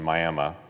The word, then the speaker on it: Miami: That's not Miami, it's the correct pronunciation, Miami.